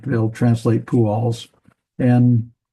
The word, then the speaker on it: Pual: And so we got Pu, and so we have the U vowel and the kibbutz down here. And then we have the Al, Pual.